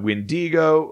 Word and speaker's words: wendigo: as well so uh alternate pronunciations include uh uh windigo uh witago uh windikook uh whitaker and then also these ones that are don't sound similar at all like uh action chanu and kewak these are all various other alternate pronunciations alternate words for what is essentially a wendigo um the uh because